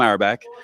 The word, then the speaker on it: Auerbach: How do I pronounce? Yes. Auerbach? Yep, you said it right.